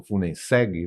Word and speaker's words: Funenseg: Eu, em termos de Funenseg, por exemplo, ou Funenseg, né, que seria o mais correto de pronúncia, foram praticamente 18 anos